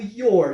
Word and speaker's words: your: O your, lembrando que esse R do your, ele é um R, a gente tem que enrolar a língua para pronunciar esse R, your, no inglês americano. Já no inglês britânico não precisa, no inglês britânico a gente fala yo, né? E no inglês americano fica your.